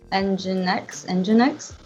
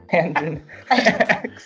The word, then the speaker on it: Nginx: He was like, "Oh, let's use Nginx," and he actually spelled like engine X. Like what? Yeah, like engine, like the word engine.